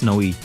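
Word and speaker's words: Nowi: How do you even pronounce Noe? I've pronounced it like 3 different ways. I think it's like supposed to be like no way, which is a joke, and then her daughter is nah, like nah.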